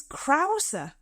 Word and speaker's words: Krause: you said it differently, his name is Krause. Is it? Yeah. Krause? Peter Krause. Oh, yeah. Like Germany.